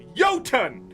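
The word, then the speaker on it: Jotun: this there's a j there what do you want me to do it's not my fault they spelled it wrong put a y there yotun then we could all say it correctly if it doesn't sound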